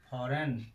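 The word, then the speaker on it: foreign: नियम नंबर 3 क्या कहता है, जब किसी वर्ड में जी के तुरंत बाद एन आता है तो जी का उच्चारण नहीं किया जाता है।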